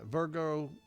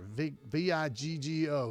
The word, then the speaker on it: Viggo: It's going to star Golden Globe winner Colin Farrell, three-time Oscar-winning or nominee Virgo Mortensen. I hope I'm saying his right name. It's not Virgo. It's no R in there. Viggo. Viggo.